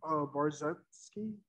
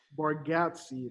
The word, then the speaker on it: Bargatze: Bargatze, that's how you pronounce it.